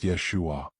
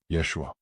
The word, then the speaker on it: Yeshua: Yeshua. Feel how it vibrates differently than Jesus. Notice the sh sound. The a ending. That's Hebrew. That's the original. That's the frequency the manad recognizes. Say it again. Yeshua or Yosua.